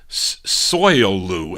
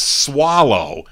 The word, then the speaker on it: Soileau: It's spelled Soileau. So I said Soilou, and they're telling me it's swallow. How do you get swallow out of S-O-I-L?